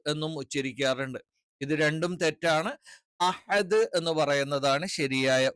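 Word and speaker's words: أحد: ഉച്ചരിക്കണം കുൽഹുവള്ളാഹു അഹദ് അഹദ് അഹദ് എന്നുള്ളത് പല ആളുകളും അഹദ് ഈ പറയുന്ന ഹ എന്ന് പറയുന്ന അക്ഷരം ഉച്ചരിക്കാൻ കിട്ടാത്തതുകൊണ്ട് ഹ എന്ന് ഉച്ചരിക്കാറുണ്ട് പിന്നെ ചില ആളുകളൊക്കെ കുറച്ച് എക്സ്ട്രീം ഓവർ ആക്കിയിട്ട് അഹദ് എന്നും ഉച്ചരിക്കാറുണ്ട് ഇത് രണ്ടും തെറ്റാണ് അഹദ് എന്ന് പറയുന്നതാണ് ശരിയായ ഉച്ചാരണം ഇത് തൊണ്ടയുടെ താഴ്ഭാഗത്തുനിന്നാണ് ഹ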